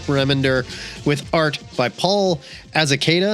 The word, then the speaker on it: Azaceta: It's written by Rick Remender with art by Paul Azaceta. I'm going to go with a hard C on that one.